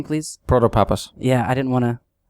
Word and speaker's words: Protopapas: And I said, "Well, what if you just read all the name all the letters in succession, it it will work out just fine."